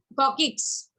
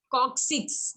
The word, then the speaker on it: coccyx: Tailbone, Coccyx. tailbone called coccyx, since we don't Many people have called it tail. yes, listen, many people called it as coccyx.